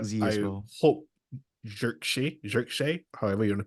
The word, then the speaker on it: Zirkzee: hope Xerxes, however you want to pronounce it, Xerxes, Just say gets. Zirkzee.